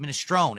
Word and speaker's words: minestrone: It's not minestronei.